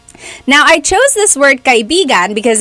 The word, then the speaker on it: kaibigan: So kaibigan is friend. Kaibigan. Do you hear how I'm saying it?